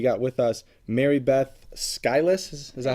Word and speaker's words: Skylis: We got with us Mary Beth Skylis. Is that how you pronounce it?